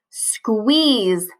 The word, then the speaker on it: squeeze: There we see that silent E again. So it's making the vowel say its name, which is the double E here, E-E. The silent E is going to make the vowel say its name, which is E.